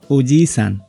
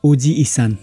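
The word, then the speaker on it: おじいさん: अर्को ओजिसान, यहाँ जी पछाडि ई स्वर जोडियो र उच्चारण ओजी इसान होइन ओजिसान। जी पछाडि जी कै स्वर लम्ब्याई एउटा अक्षर बराबरको टाइमिङमा उच्चारण हुन्छ, तर पुरै ई भनेर चाहिँ उच्चारण हुँदैन।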